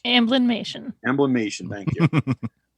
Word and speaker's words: Amblin: with Don Bluths like animation studio or whatever amberlynn motion I mean blend animation wouldn't have been a thing with Steven Spielberg which after amberlynn nation no how are you pronounce its Amblin mission emblem nation thank you we probably wouldn't